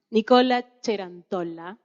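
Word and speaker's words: Nicola Cerantola: Bueno, me toca presentar a mí me gusta pronunciarlo en italiano, Nicola Cerantolla.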